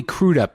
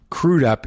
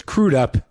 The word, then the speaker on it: Crudup: uh and this is the first time i've ever pronounced it crude up instead of crud up which is wrong so it's crewed up and he's here i